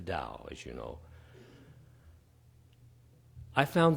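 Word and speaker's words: Tao: those though which was the da t a o pronounced the da as you know I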